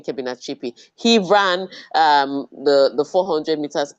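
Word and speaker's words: Kebinatshipi: You have to be able to pronounce it because all the Europeans are pronouncing it. So I will not forgive any African for not to being able to say Kebina Chipi. It's not Carachella, for goodness sake.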